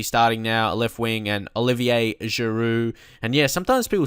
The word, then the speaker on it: Olivier: Like, Olivier Giroud, some people say I say his name wrong, like Oliver, but no, it's not Oliver, it's Olivier.